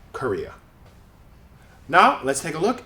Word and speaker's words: Korea: circus same way and same with Korea in this case the middle syllable is stressed so these syllables simply become schwas even though this is an O and this is an a native English speakers will say k they won't say Cora they say Korea now let's take a